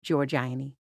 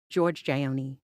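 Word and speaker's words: Giorgione: correct response who is George aini however he broke up the syllables so it sounded like George Gionee which apparently rendered him incorrect no maim ruled in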